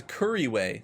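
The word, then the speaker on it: Couriway: It's Curryway, like Curryway Town.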